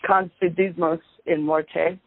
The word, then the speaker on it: Confidimus in Morte: Is that the correct pronunciation? It's Confidimus in Morte.